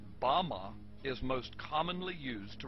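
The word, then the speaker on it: בָּמָה: which Satan fell is Strong's Hebrew word 1116 pronounced Bama is most commonly used to refer to a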